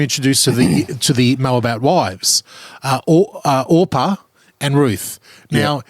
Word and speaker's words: Orpah: So then we're introduced to the Moabite wives, Orpah and Ruth. Now, if I accidentally mispronounce her as Oprah at some point, this is how deep of a dive.